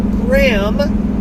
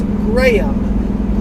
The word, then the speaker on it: Graham: It's not Graham, it's Graham. Okay, off with that.